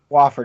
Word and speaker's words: Wofford: Believe I'm pronouncing that right. Wofford, that's correct.